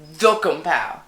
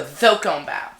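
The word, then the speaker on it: Cakobau: Was named Dokombao. Dokombao. No, Thokombao.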